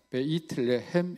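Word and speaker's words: בית לחם: 우리가 이제 베들레헴이라 우리말로는 그렇게 발음합니다만 히브리어에서는 베이틀레헴 이렇게 하는데 떡집이라는 뜻입니다.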